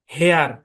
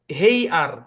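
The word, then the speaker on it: hair: দেখেন আপনি যদি এটাকে লং এর সাউন্ড দিয়ে পড়তেন তাহলে কি হতো জানেন? হেই আর, হেই আর, হ্যাঁ, হেই এরকম হইতো।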